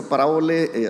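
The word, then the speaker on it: παραβολή: inventaron por ahí está el nombre parabole se se pronuncia parabole ahí están escritas las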